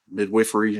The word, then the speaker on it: Midwifery: And it also says in the statute that the midwives themselves are to be regulated by the Board of Midwifery, is the way you pronounce it.